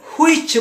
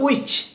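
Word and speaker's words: which: When, এটাকে হুইচ বলে, এটা হুইচ নয়, উইচ। উইচ। আশা করি আপনারা উচ্চারণগুলো ঠিক করে নেবেন।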